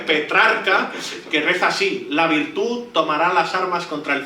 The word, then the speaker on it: virtud: De hecho, a esta autosuficiencia es lo que Maquiavelo denomina como la virtud, con acento en la U.